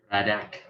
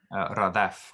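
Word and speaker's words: רדף: He pursued Radaf. Radak. Radaf with an F sound.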